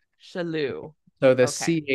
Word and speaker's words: Chellew: my last name is spelled or is pronounced Chellew. Chellew. So the Okay. CH is a soft, kind of like Richelieu.